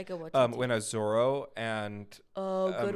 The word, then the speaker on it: Taika Waititi: Rita Ora and I never had to say to How do you spell it? Waititi. Taika Waititi, right? That's how you say his name? Taika Waititi.